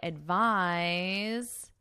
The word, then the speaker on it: advise: And I can say, I advise you to take medication. Advise, advice. So notice the pronunciation difference.